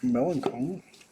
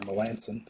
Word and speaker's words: Melancon: How about a Mark Melancon, numbered to 250 to the Braves. Or Melanson, sorry. I don't know why I pronounced his name wrong.